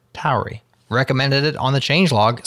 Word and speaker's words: Tauri: This repo that's maintained by the Rust team has made changelog news in the past, but Daniel Thompson of Tauri, yes, that's how you pronounce it, Tauri, recommended it on the changelog, so we linked it up again.